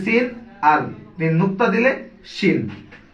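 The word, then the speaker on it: ش: আর তিন নুক্তা দিলে শিন। সিন আর শিন উচ্চারণ হবে একটা সোস শব্দ, দন্ত স দিয়ে সিন, তালিবর স দিয়ে শিন।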